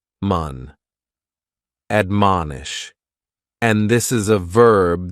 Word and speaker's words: admonish: first word is to admonish and admonish has three syllables and the stress is on that second syllable man admonish and this is a